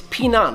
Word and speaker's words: Pinan: By the way, in more modern Japanese styles, these kata are known as heian, but the original pronunciation is pinan, which has Chinese origins and actually means to stay safe.